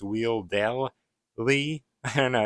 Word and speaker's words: Wheeldell Lee: including Mr docket say weedy I don't think that's how you say it though I think you're supposed to pronounce the L it's weell Le I don't know it's